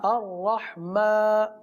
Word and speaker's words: الرحمن: را حا زبر رح، الرح، الرح، میم کھڑا زبر ما، میم کھڑا زبر ما، الرحمن، الرحمن، نون پیش نو، نون پیش نو، الرحمن.